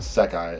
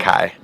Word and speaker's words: Sekai: I think Sekai is actually how you say it. Okay. So they're from a show Or called Sakai. It could be as well. Just Sekai.